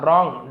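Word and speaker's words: wrong: रॉन्ग W silent होता डब्ल्यू आर एक साथ हो तो।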